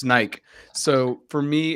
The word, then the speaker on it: Nike: because in Latin America and especially in Spanish, it's just Nike. That's it. It's not Yeah. two syllables. It's Nike.